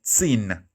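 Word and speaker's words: zehn: that english teen teen teen is number 10 sin sin is equivalent to the english teen okay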